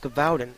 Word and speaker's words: Gévaudan: Brotherhood of the Wolf is a French film based upon the famous attacks of the Beast of Gévaudan, or pronounced Gavaudin, earlier in this documentary.